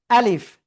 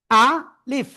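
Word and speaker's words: ألف: নিচের প্রথমে আ এমন উচ্চারণ। তারপরে লিফ নিচের ঠোটার পেট উপরের দুই দাতের আগায় লাগাবেন লাগাবেন হ্যা লাগিয়ে আপনার উচ্চারণ করতে হবে আলিফ আলিফ খেয়াল করেন এইযে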